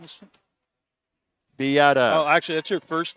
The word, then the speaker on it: Beata: Beata. Yeah. Okay, Just a thank correction you. on pronunciation. That's from Peter Artabello. All right. Whose daughter's playing for Mount A. Thanks, Peter. Last name is? Beata.